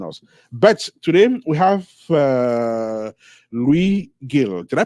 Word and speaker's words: Luis Gil: But today we have Luis Gil. Did I pronounce it correctly?